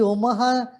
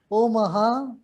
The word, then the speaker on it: Omaha: See, Omaha, the name of the city rhymes with Om, Omaha in Nebraska.